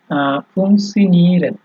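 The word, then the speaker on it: funktionieren: যেমন আপনার এই যে উদাহরণ দেখলে বোঝা যাবে, ফুংসিনিও ফুংসিনিরেন, ঠিক আছে, ফুংসিনিরেন, ফুং ফুংসিনিরেন, ঠিক আছে, মানে ট আপনার একটু হালকা করে উচ্চারণ করতে হবে, তারপরে হচ্ছে আপনার ওই সিয়নটা আসবে।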